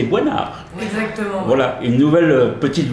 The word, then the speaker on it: Boisnard: Parce qu'on m'a dit qu'on prononçait pas votre S. C'est ça. Parce qu'il y a Dominique Besnéard, il y a un S, on le prononce, mais moi, on m'a averti, on m'a dit non, c'est Boinard.